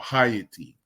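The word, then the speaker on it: Hayti: go look up this app it is called hyatty h-a-y-t-i you might pronounce it Haiti but understand that it's the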